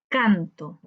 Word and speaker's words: canto: Canto, cantó. Veamos, cuando decimos canto, canto, la sílaba tónica la encontramos en can, canto. Por tanto, esa es una palabra grave.